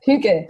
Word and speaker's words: hygge: It's spelled Hygge. It looks like Hygge, but it's really, you pronounce it. So how do you pronounce it for me again? Hygge.